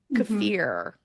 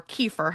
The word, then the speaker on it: kefir: eating fermented food sourkraut cfir or kefir however you might say it it's actually cafir I think I've looked at how to say it on YouTube most people say it wrong but um things like